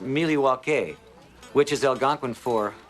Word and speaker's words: Milwaukee: Indian name yes Pete it is actually it's pronounced milake which is El gonin for the good land